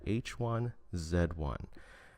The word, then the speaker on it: H1Z1: and it's called h1z1 yes I'm Canadian so I have to say it like that h1z1 now playing h1z1 it's